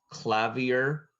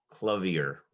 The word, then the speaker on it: clavier: up a bit your word has two correct pronunciations clavier clavier can you repeat the word please yes clavier